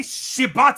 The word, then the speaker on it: Shibata: his name before I get it first getting shibata shata that's correct there you go who by